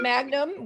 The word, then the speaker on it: Magnum: No, his name is Kevin Magnum. We're Mangums and he's Magnum.